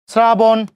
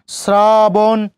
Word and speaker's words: শ্রাবণ: বাকি উচ্চারণগুলো আপনারা খেয়াল করলেই বুঝবেন, এগুলো প্রত্যেকটা আপনাদেরকে করানো হলো। ঠিক আছে? শ্রাবণ, খেয়াল করেন শ্রাবণ, শ্রাবণ, দন্তস্বর সাথে রফলা শ্রা, বয়কারে বো, দন্তন্য, শ্রাবণ, শ্রাবণ।